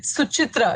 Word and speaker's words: Suchitra: It's Suchitra. It's a hard cho, CH.